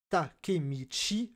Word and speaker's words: Takemichi: Shi, et le nom Takemichi, le héros de Tokyo Revenger, qui se prononce Chi.